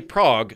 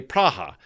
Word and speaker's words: Praha: So don't say Prague, say Praha. Don't say China, say Zhongguo.